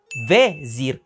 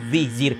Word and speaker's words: vezir: As you notice, I say "vEzir" and not "vIzir", which is the Romanized pronunciation.